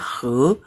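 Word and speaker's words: 和: Kalau ini doang bacanya he.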